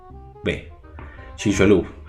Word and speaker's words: Chicxulub: Chicxulub, no sé si es una C, una H, bueno, es Chixulub. Chicxulub.